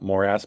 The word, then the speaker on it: morass: about the actual football according to Google the pronunciation is morass so not moras but you know you